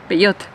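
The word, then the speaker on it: Peugeot: and in Spain and the way you should say it is beot p the second car is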